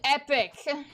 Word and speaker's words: epoch: Epic. It's called It It's pronounced Epic.